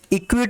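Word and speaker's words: acquit: इक्विट, ये सी वर्ड यहाँ पे साइलेंट होगा। इक्विट पढ़ते हैं इसको, मेरे साथ साथ पढ़ेंगे आप।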